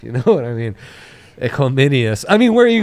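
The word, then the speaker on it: Equanimeous: I'm pretty sure it's like Equiminius. That's a name right there. That was a weird sound in the mic. I didn't like that whistle. Equanimous.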